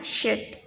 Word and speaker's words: should: Meskipun menulisnya seperti itu, dibacanya should.